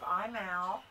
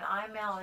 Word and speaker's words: Imaal: It's he is a Glen of Imal Terrier, and Imal is spelled I-M-A-A-L.